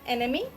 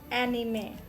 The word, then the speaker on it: anime: say a word no this is not enemy or an i'm it should be anime anime it is actually